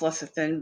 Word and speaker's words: lecithin: salts and lecithin and i know that doesn't look like that's pronounced less of thin but i looked it up then we have